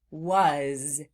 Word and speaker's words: was: Sometimes in words that sound like floss words, they end in what sounds like a Z sound, but it's actually being spelled with an S. For example, these words at the bottom of the screen. As, was, and his. In these words where the S is making the Z sound, as, was, and his,